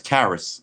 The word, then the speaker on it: Charis: is 45 seconds long kyrie is rhyming with harris karis so it's karis or the charist okay in greek mythology